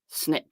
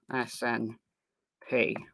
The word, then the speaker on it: SNP: I meant SNP testing. It's SMP, so the I is silent, so SNP. Just called SNP, right? SN little IP, just because it looks like the word snip.